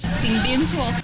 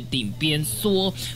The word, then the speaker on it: 鼎邊趖: 顶边错，顶边错，顶边错。